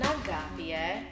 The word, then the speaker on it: Agapie: My name is Agapie. Make sure you pronounce the E at the end.